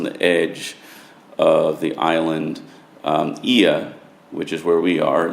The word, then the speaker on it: Oia: Aegean, which is where we are, that's spelled O-I-A, but pronounced Aegean, is perhaps the most picturesque of those towns.